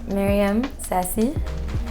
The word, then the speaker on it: Meryem Saci: Alors, je m'appelle Myriam Sassi.